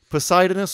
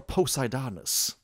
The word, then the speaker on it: Poseidonis: badass all right so poseidonous or poseidonis i like i like both pronunciations but anyway named after